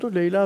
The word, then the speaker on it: Leyli: Maintenant, professeur , passons aux Leyla et Mecnun de Fuzuli. Au fait, est-ce que c'est Leyla et Mecnun ? Leyla et Mecnun, prof ? La prononciation originale est Leyli et Mecnun.